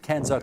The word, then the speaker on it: CANZUK: chief executive of canzuk which I will now pronounce properly canzuk International Francine McKenzie at that other London London